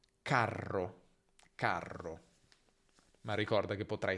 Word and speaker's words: carro: quindi carta, carta, mentre se vedi una R doppia, allungala. Carro, carro.